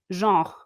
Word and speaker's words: genre: Genre. Jean. Yes, with Okay. like the. Okay. All right. Sorry, I Terrific.